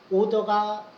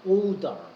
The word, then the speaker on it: odor: odor가 명령이지. 발음은 요건 odor. 파우더가 아니야 odor.